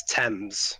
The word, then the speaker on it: Thames: It's Thames. Thames. Truly the picture of sanity. The H is silent, Jova.